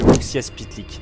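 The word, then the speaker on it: Mxyzptlk: Là, il rencontre Monsieur Uxias Pitlick, un nom de fou, mais je vous assure que c'est comme ça que ça se prononce.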